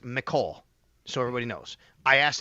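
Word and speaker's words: Mecole Hardman: But then I get to you just signed Micole Hardman. And by the way, so everybody knows, I would his he he want his name is pronounced Micole so everybody knows.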